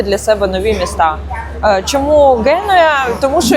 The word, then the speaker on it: Генуя: В в Геною в мене завжди проблема з цим наголосом. Таке хочеться просто назвати і геноє, але це буде неправильно. Я спеціально дивилася, звісно, готувалася до поїздки, дивилася різні відео. І правильна назва міста українською - це Генуя.